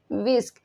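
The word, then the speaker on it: whisk: में विस्क कहते हैं विस्क इसमें एच है यह साइलेंट हो जाएगा ठीक है विस्क पड़ा जाएगा विस्क डोई डोई को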